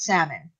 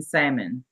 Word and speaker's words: salmon: Y'all know the L is silent in salmon. What? So what? Well, Jim says salmon, and it makes me want to choke him. The L is silent. Salmon. It's salmon. Salmonella, exactly.